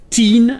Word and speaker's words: teen: Ten avec un I, teen avec deux E.